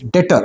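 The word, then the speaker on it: debtor: डेटर है कौन भाई दिस इ डेटर बी साइलेंट दिस इ नॉट नॉट be pronounce S डेटर इसे डेटर नहीं बोलते बी साइलेंट है तो आप क्या बोलेंगे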